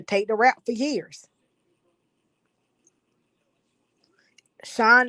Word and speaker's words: Shyne: Sean is spelled Shyne.